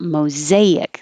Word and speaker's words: mosaic: um the question about mosaic this s does sound like a z mosaic and this s